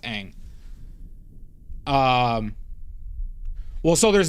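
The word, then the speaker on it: Ingres: It's pronounced ang.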